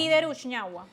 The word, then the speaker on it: Glider Uchiñahua: Así se pronuncia, ¿no es cierto? Estoy correcto. Sí, Glider Uchiñahua.